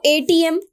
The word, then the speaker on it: ATM: near the mall now ATM of course it is uh beginning with wall sound if we pronounce this word a TM so a is somewhere